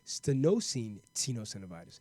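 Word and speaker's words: stenosing tenosynovitis: is what you have which sounds like sterno seen tenosynovitis let me spell that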